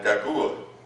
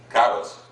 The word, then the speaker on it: Caguas: Herbie was born in Caguas. Is that pronounced that right? Caguas.